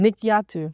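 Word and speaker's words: Nikyatu: King and Nikil Nikquille she didn't I'm mispronouncing your name Nikkiatu.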